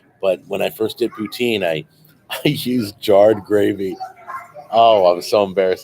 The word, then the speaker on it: poutine: Sault Saint Marie Canada by the way it's pronounced poutine that's what I said I just said poutine go everywhere in the